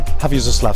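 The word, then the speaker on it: Hviezdoslav: We're now in Hvězdoslav Square. How is my pronunciation? Your pronunciation is fine.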